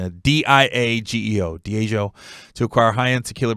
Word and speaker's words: Diageo: I'm sure I'm mispronouncing it. D-I-A-G-E-O, Diageo, to acquire high-end tequila brand De Leon.